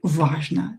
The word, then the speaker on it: важно: Итак, учиться каждый день важно. To study every day is important. This is the title. Учиться каждый день важно. Важно. O, not stressed, pronounce it as A.